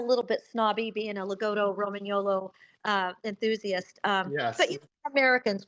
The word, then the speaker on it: Lagotto: Yeah, so just to let you know, the correct pronunciation, Peter, is Lagotto. So if you were Italian, you would say Lagotto Romagnolo. It's a I'll long, remember that.